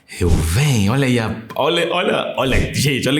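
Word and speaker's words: ראובן: Então, pela pronúncia, quando você vai pegar a pronúncia, é Reuven.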